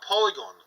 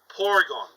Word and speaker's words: Porygon: can actually get a polygon so that helps build up your poke Pokédex or no not polygon Porygon sorry I need to pronounce that right Porygon however one could say